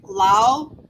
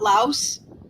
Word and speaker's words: Laos: I mean, I complain about the French silent letters, like Lao. You know that it's not Laos. That S is a silent S, and apparently the reason